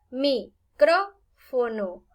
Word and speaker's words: micrófono: Ahora veamos micrófono. Micrófono. Hay 4 sílabas. Última, penúltima, antepenúltima y esta sería antes de la antepenúltima. Veamos micrófono. Es una palabra esdrújula con tilde.